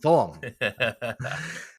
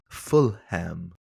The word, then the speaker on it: Fulham: Fulham. It's uh it's wacky wacky times here. It's like it's like you're teaching your kids how to, you know, annunciate words. Full. It's It's daddy. It's pronounced Fulham.